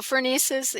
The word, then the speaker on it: phronesis: I know that you also discuss practical wisdom and phronesis. I think that's how you pronounce that, or phronesis, and Phronesis, yeah.